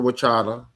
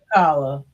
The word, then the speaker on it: T'Challa: And Black Panther, Wakanda, Wachada, even though I'm pronouncing his name a little wrong, I'm sorry, T'Challa. um, T'Challa.